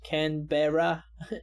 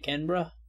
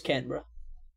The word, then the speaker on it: Canberra: Anyone else cringe when you pronounce Canberra instead of Canberra? I mean, even I pronounced it wrong for quite a bit, so I just pronounced it wrong for most of this video, I think, even. But now I know it's Canberra.